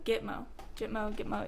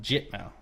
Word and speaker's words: Gitmo: Gitmo, yeah. It is. It's pronounced Gitmo. Actually, no, that doesn't help me at all. It's pronounced GIT-Mo. Is it Git or Jit?